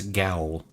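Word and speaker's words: gaol: I'm just saying that when you spell it g-a-o-l that's gowl I don't care what kind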